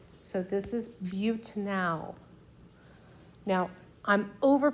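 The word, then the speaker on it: butanal: would be butanol so I over pronounce the a so that we know what we're talking about buttin now and that's just four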